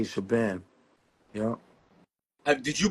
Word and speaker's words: Shabaam: know, it's really Shabaam, you know, but we say Shabam.